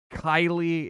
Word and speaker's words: Keighley: It's time to bust out the Mountain Dew, the Doritos, my boy Jeff Keighley, otherwise known as Geoff Kylie. His name is spelled weird, man.